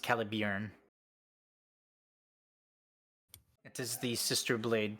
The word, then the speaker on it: Caliburn: which is uh it's spelled caliburn but it's pronounced calib it is the sister blade to Excalibur uh